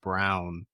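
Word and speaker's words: Christian Braun: Just like Christian Brown, it's pronounced like it's spelled Braun, but it's pronounced Brown.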